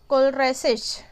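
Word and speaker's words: Kohlrausch: इसको 1880 में FWG, एक जर्मन केमिस्ट है, कोलराइसेच. ठीक है, यहाँ पे एच को साइलेंट करके पढ़ना है.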